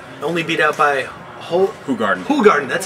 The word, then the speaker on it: Hoegaarden: Hoegaarden, that's how you pronounce it.